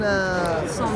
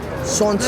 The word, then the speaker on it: santé: How do you say cheers in Santé. French? Santé. We're gonna do a proper santé. How? So you gotta look in the eye. Look in the eye. Already. Like that. Santé, like that.